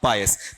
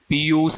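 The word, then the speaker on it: pious: पीयूष ऐसा कुछ नहीं है, क्या है आपका? पायस है।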